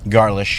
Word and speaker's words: Garlisch: Microphone brewing is 121 Garish. Garish.